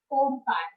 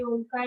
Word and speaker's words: ओम: अपनी spinal cord straight रखिए और अब हम करेंगे 3 बार ओमकार। ओम में ओमकार का उच्चारण अ, उ और म से होता है।